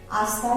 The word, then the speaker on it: hasta: Hasta luego, again remember it is silent.